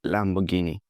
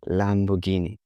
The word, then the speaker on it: Lamborghini: Lamborghini. But that's not how Italians pronounce it. They say Lamborghini. Lamborghini. You have to read the R and go with the Italian flu.